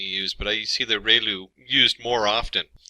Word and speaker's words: ReLU: function, we have the ReLU, it's pronounced like ray, the ray from the sun, and lu, like a name, so ReLU function.